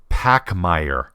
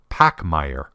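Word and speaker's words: Pachmayr: you can add one of them too it's pronounced pacm now I've heard a number of different pronunciations including Pac Meir anyway this company is a division of linman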